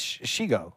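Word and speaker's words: Shego: It's Shigo.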